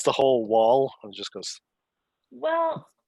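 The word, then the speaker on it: The Hu: guitar and whatever and they're called the who but the it's spelled hu when it's transliterated from mongolian and you should they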